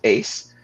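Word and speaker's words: AISC: and this platform is ai socratic circles pronounced ace it's a community of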